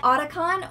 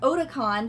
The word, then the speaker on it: Otacon: Number six, everyone knows that smoking can be hazardous to your health, but in case you forgot, Otacon or Otacon, depending on who you heard pronounce it, will be there to remind you